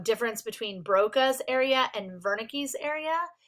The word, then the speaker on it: Wernicke: between broca's area and wernicke's area it is pronounced wernicke because it is german um and these were